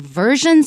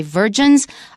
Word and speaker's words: versions: Be careful when pronouncing versions so you don't say virgins.